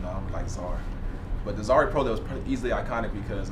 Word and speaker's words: Zaire Prioleau: So my name is Zaire Prioleau. That's how you say my name. I've heard Zaire Prioleau. I've heard a lot. I've had, which isn't too bad.